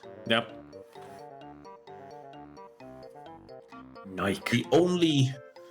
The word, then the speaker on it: Nike: No, it's actually pronounced Nike, but you're Yeah, you're right. Yep. Nike. The only It's so weird. I've tried buying Nike shoes at some point and normally in the